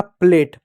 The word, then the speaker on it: plate: तो ए कॉन्सोनेंट और ई है, तो ए का मात्रा लगा दो। टी है तो टी का ट लिख दो, ई साइलेंट होगा, हो जाएगा आपका प्लेट।